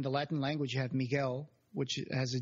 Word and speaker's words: Miguel: Latin language you have Miguel which has a g on it so yeah which in America sometimes people say Miguel because there was a u but that U is silent really oh yeah instead